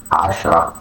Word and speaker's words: عشرة: The transliteration عشرة عشرة عشرة. And here pronunciation عشرة عشرة عشرة.